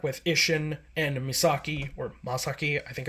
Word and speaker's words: Masaki: Isshin and Misaki, or Masaki, I think it's... I've always pronounced it Masaki, but they pronounce it Masaki, but it's like Masaki, like M-A instead of M-I.